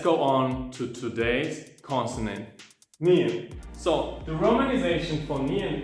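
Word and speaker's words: 니은: This right now is Nian, tongue position of D, but you pronounce N.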